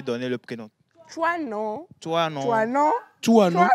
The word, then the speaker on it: Toinon: calendrier grégorien les Émélines, les Antoinettes et les Toinons. Toi, non. Toinons. Ça s'écrit C'est assez comment?